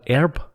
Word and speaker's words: herb: americans pronounce herb as herb they they drop the h the silent h in america why it's the same